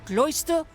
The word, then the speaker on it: Closter: to let you know that Closter rhymes with moisture why ah I skipped